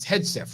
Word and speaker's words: Hegseth: He pronounces it Hegseth, right?